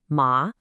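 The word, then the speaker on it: 妈: It's simply there to tell you, hey, this character sounds like ma.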